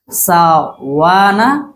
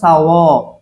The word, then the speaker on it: سواء: আরেকটা ব্যাপার ওর ক্ষেত্রে সেটা হচ্ছে সাওয়ানা, সেটাকে অনেক সাওয়াউন, সাওয়া হবে না, কেমন কিরকম হবে?